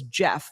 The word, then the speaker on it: Geoff: fans that wrote in's name was Jeff but it was spelled g-e-o-f-f and the ho the